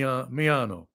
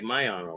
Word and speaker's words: Miano: well you're just pronouncing it the way you're pronouncing it it's me I say me myano a lot of people say mayano right some I think they're Japanese though yeah